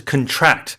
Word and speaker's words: contract: So first off, the stress is on the second syllable as a verb, to contract, as opposed to a contract, which is something you sign in a deal.